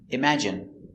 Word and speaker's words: imagine: Imm strong sound. Imagine I imagine. Imagine. Imagine. Stress on the second syllable.